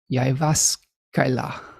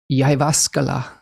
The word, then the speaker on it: Jyväskylä: Jyväskylä.